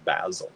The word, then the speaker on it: basil: spice is cinnamon and herb is basil or basil right that's how they say it over there basil somebody and then they